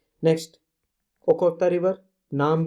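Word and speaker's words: Okhotsk: Russia की ओखोत्स्क river, ठीक है, ये रशियन नेम्स है, थोड़ा सा इनका प्रोनाउंसिएशन ऐसा सही है।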